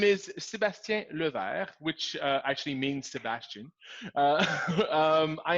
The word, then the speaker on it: Sébastien Levert: usually I don't do that my name is Sebastian Luther which actually means Sebastian I am a office/den